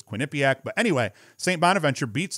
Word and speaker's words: Quinnipiac: just bellarmine uh so i thought quinnipac might be just a more simple pronunciation too i think i'm wrong i think it's quinnipiac but anyway st bonaventure